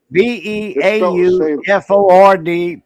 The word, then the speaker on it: Beaufort: Beauford, period. Like Sanford and Son. Spelt the same, pronounced different.